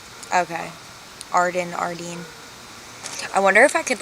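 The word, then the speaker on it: Ardene: It's officially pronounced Ardeen. Okay. Ardeen.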